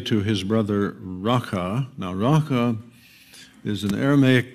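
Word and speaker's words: Raca: the way it's pronounced, it sounds like the noise you make when you're clearing your throat to spit. I won't demonstrate, but you can practice in the solitude of your room. Raka.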